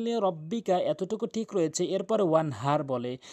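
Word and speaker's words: وانحر: এখানে বড় হার জায়গায় ছোট হা এনে উচ্চারণ করে, যার ফলে নামাজ ভেঙে যায়, অর্থ চেঞ্জ হয়ে যায়, সঠিক অর্থ দাঁড়ায় না। ওয়ানহার, হাটি হলকের মাঝখান থেকে উচ্চারণ করতে হবে।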